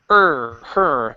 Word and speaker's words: her: Right now you're pronouncing it like hair, which is on your head. Hair. Okay. Instead of hair, it's her.